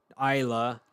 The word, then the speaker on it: Ajla: Like Isla Fisher, the actress. No, it's spelled a little bit differently. It's like AJLA or ALJA. Something, one of those spellings. Let's see. Yeah, AJLA, Isla.